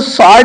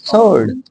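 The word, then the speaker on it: sword: इसको स्वॉर्ड नहीं बोलेंगे, स्वॉर्ड, स्वॉर्ड, स्वॉर्ड, स्वॉर्ड means होता है तलवार।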